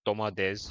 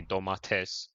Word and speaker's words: domates: And like I said domades, you guys would say domates. It's like certain words that you guys pronounce with a T, we pronounce with a D.